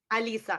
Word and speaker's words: Alisa: And I want to make it, and it's Elisa? I want to pronounce it correctly. Alisa, A-L-I-S-A. Yes, I'm from Ukraine. Yeah, Elisa.